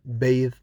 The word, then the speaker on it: bathe: The same for bath and bathe. Bath as a noun, bathe as a verb.